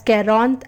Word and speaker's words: quarante: Then 40, which is pronounced as Quarante and is written as QURRANTA.